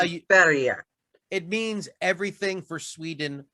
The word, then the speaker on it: Sverige: Sverige. It means everything for Sweden or all for Sweden. Because Sverige is how Swedes say Sweden.